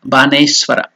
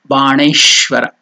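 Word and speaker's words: बाणेश्वर: that we have put a dot under that Na. It is not Baneswara. It's not Bana. It is Bana. So the tongue should touch the palate. Na. Baneshwara. Just like under. Or when you pronounce Krishna. Ghanta. So that Ana, the tongue should touch the palate. So that's why Baneshwara. Shivaya.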